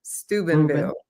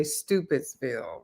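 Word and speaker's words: Steubenville: yeah first of all I like to make sure people get the pronunciation right you said it right like Reuben Stubenville Stubenville we yeah we will fight you if you say stupidville right have a lot hear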